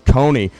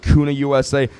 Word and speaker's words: Kuna: That's how I used to think it was pronounced, was Kony. It's actually pronounced Kuna USA, who we just had Mike Marine up here talking with us.